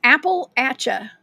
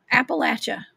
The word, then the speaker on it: Appalachia: Yes, Abbott says Apple-atcha. Appalachia.